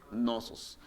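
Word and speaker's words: Cnosos: en la ciudad de nosos se escriben osos se escribe xenosos pero se pronuncia no sus muchachos escribe cenozo se pronuncia no sos esta cultura va a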